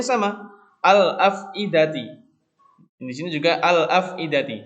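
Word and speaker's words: الأفئدة: Al-afidati. Di sini juga al-afidati. Jadi kata al di situ itu dibaca. Huruf lamnya itu dibaca. Ya, huruf lamnya itu dibaca kalau qamariyah. Nah, contohnya lain, al-masjidu.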